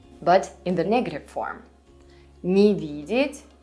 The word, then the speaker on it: не: Remember that the particle не, not, is almost never stressed in Russian. So you would usually read it as just an extra syllable, ни.